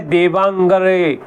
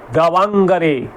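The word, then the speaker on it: Davanagere: और सिमगा सिमोगा े शायद मेरा गलत हो सकता है थोड़ा बहुत लेकिन डी ए वी ए एन ए जी ई आर ई दवांगे दवांगे अगर मैं सही बोल रहा हूं उच्चारण सही कर रहा हूं और सिमोगा सिमोगा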